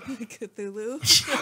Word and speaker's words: Cthulhu: Salulu. How do you say it? Cthulhu. Bravo. It's a Tulu.